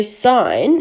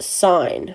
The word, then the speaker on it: sin: So sine is actually abbreviated to SIN. Now, it's still pronounced sine, right? Like, even though the E's missing, we still say that's sine, not sin.